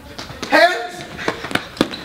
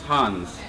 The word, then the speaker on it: Hans: Hands! Hands! First off, it's Hans. No! It's spelled H-A-N-S.